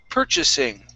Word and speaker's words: purchasing: And our last word is purchasing. Okay, the stress is at the very beginning.